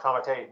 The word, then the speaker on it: committee: And a comité is spelled committee, pronounced comité, nobody knows why, but it's basically a court-appointed guardian.